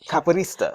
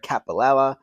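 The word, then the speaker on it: capoeirista: Cap caparista. Caparista. Oh. And I practiced how to say his name. I knew I was going. I've heard worse. I've heard capella. I've heard capacola.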